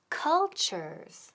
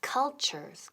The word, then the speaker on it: culture: It was about cultures. Okay, y la palabra del día que es cultures. Culture, muy importante la pronunciación. Culture. La T-U suena como CH.